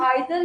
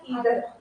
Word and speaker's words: either: आइदर या ईदर आप choose में कंफर्टेबल हो, बहुत प्रोनाउंसिएशन आता है।